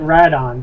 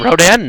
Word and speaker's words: Rodan: need one of those just don't call it radon that bugs the out of me Rodan no you don't call them that pronounce it that way that's that's weird to me you've seen the you've